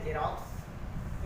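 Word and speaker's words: Xerox: यहाँ पर देखिए एक एक्स को जब पढ़ा जा रहा है, दूसरे एक्स को आधा का सभी पढ़ा जा रहा है। मतलब प्रोनाउंसिएशन एक ही सेंटेंस में आप एक ही वर्ड में आप दोनों देख पाते हैं।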